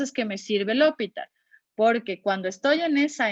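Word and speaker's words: L'Hôpital: Cuando voy a aplicar, en realidad debería pronunciar hospital, pero yo digo L'Hopital porque así me aprendí y si no digo así me torzo.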